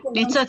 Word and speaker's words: Nitzots: Now we are moving to Nitzots. It is written on this window. Probably it's not your name, or it's. No, it's exactly my name. Nitzots, you pronounce it well.